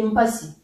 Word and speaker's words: mpasi: J'avais dit dernièrement dans une de mes vidéos que le si souvent est prononcé chi en lari. Donc ici, si je dis mpasi ou que je dise mpachi, c'est la même chose en fait.